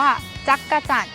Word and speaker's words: จักจั่น: อ่ะ เขียน คำ นี้ เรา ออก เสียง ว่า จักจั่น เคย ผ่าน หู ผ่าน